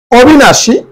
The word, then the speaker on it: অবিনাশী: অবিনাশী, অবিনাশী শব্দটা অবিনাশী উচ্চারণ হবে শুধুমাত্র তালব্য স্বরের আকারে তালব্য স্বরের মধ্যে যে দীর্ঘ ইকারটা আছে এটা রস্বইকার উচ্চারণ হবে অবিনাশী।